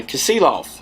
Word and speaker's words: Kasilof: night we camped uh kasilof i think i finally said it right for the whole week it was it was castle off and some other stuff